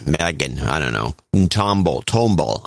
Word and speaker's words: Tomball: I don't know tomble Tomball how do you pronounce that you're a Texan tumble tumble tble tumble Tumble Texas T tumble uh 130